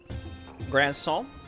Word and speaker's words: Grandson: into memory everyone's favorite it's pronounced a bit like croissant grand song okay by the way